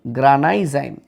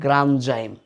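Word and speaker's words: granzyme: গ্রানাইজাইম এই নামটা কিন্তু ভুল। গ্রানাইজাইম বলে দুনিয়ায় কিছু নাই, এটার উচ্চারণ হবে গ্রানজাইম।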